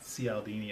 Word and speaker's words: Cialdini: We are what Robert Cialdini, that's another good book if you guys haven't read, Influence by Robert Cialdini, I think is how it's pronounced.